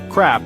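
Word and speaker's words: ครับ: on the second syllable crap is a short sharp sound kind of like cup C is similar but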